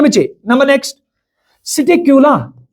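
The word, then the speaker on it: Psittacula: ना बच्चे number next seat क्यूला इसमें भाई पी साइलेंट रहता है सिट कूला तो जिसको हम नाम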